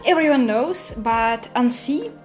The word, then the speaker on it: Annecy: Not everyone knows, but Annecy, or Annecy, like how my American fellows pronounce it, it's also the lake and the city where this festival is held.